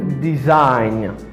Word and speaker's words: design: champagne it means the common word is design design design because in this word the letter